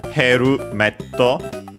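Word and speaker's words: ヘルメット: pretty sure it's from Heru Metto, helmet in English. Speaking of, we check its accent, of course. And yeah, as expected, on the first syllable, he, just like in English, Herumetto.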